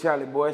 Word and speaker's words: Chalie Boy: tell them where you're from my name is charlie boy c h a l i e b o